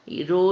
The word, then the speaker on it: rho: Okay, so how do we pronounce this? This is rho, or H O W, so rho.